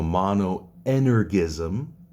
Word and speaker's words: monoenergism: Those two ideas are monoenergism, pronounced with a hard G, because if you say it with a soft G, it sounds a bit weird. So monoenergism and monothelitism, right?